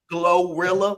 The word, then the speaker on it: GloRilla: The likes of Bad Bunny, Glorilla.